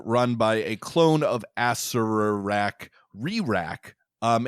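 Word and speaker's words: Acererak: of Horrors light, as a Sararak. I don't actually know how it's said, but I always say Asarak. Asarak has a little clone. Sorry, it's Asararak. That's right. So there's another R in there.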